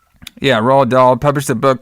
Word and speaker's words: Roald Dahl: I think it's Roald Dahl, I think is how you say his name, but I could be wrong. Yeah, Roald Dahl published a book called